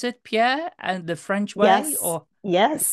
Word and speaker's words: Pierre: Degroot you with Butler Pierre and do you pronounce it Pierre and the French word yes indeed I do